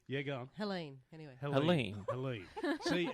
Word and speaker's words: Helene: Helene. See, it's spelt Happens every Helene, gig.